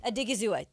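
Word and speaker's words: Odighizuwa: 49ers converted 14 and a half million of OC OSA's I don't want to say his name because Adigua Adigazizua thank you Osa Adigazizua's salary to a into a signing bonus.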